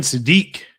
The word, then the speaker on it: Sadiq: 108, Kenyon Sadiq. Yes, I pronounced it finally right.